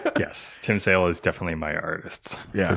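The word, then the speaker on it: Tim Sale: art wise say it it rhymes with sim tail yes Tim sail is definitely my artists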